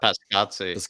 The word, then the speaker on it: Paratici: Pascazzi.